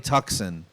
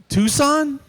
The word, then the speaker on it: Tucson: love it it's a hyundai tuxen you mean tucson she goes tucson is that how you say it i'm